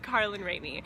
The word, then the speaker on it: Carlin Rainey: Kate really didn't do anything her name is pronounced Carlin rainy so if we messed that up in the